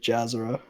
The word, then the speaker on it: Jazzora: Wait, so it's pronounced Jazzora, not Jazzora? A lot of people say Jazzora, but Jazzora.